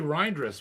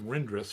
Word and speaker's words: Reindress: Well, Larry Reindress, we said his name wrong for a year. Oh yeah. Yeah. Lots of people. Yeah, we called him Rindress for a long time.